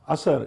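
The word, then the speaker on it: असर: well and assar Pakistan assar as uh we call it assar uh the pronunciation is Asser which means impact in Hindi hindustani and Urdu so um Asser has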